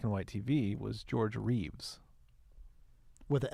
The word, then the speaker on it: Reeve: his name a Christopher Reeves how do you say his last name again Reeves what is his name say Christopher reev right down the middle again so people remember